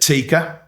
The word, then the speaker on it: TICA: So I'm a technical director at TICA. You pronounced it as I do.